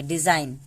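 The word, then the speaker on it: design: डिजाइन ऐसा नहीं पढ़ेंगे, डिजाइन, डिजाइन। एन तक पढ़े, जी को गायब कर दिए, यानी जी का कोई उच्चारण नहीं होता है।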